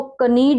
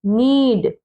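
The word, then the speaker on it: knead: जैसे एन से पहले आया के, अब इसको कनीड नहीं पढ़ेंगे, कनीड, इसको पढ़ेंगे, यहां से शुरू करेंगे, नीड।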